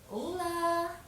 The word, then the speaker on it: Olá: So, we say Olá.